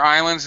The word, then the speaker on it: islands: are there other smaller islands that are part part Islands be careful Islands no s don't pronounce the s in English for Islands yeah isn't it possible